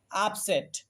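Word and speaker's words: upset: ঠিক তেমনি করে আপসেট। খেয়াল করো এই বানানের মধ্যেও আমরা শব্দের প্রথমে ইউ পেয়েছি। এরপরে দেখো তোমরা পরপর দুইটা কনসোনেন্ট পাচ্ছ। পি এবং এস। এইজন্য আমরা ইউ কে আ এর মত উচ্চারণ করব।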